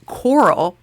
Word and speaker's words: Carl: Apparently, the southern pronunciation of Carl is coral.